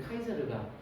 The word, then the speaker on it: 카이사르: 그게 사람으로도 나라에서 똑같기 때문에 그게 관심을 좀 받으면 그래서 저희 학원 이름이 카이사르가 율리어스 시저 원어 발음입니다.